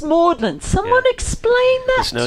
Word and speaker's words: Magdalen: Magdalene pronounced Mlin.